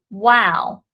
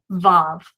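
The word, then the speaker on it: וָו: here this is the wow but in modern hebrew due to the influence of the yiddish which was influenced by the german they do not pronounce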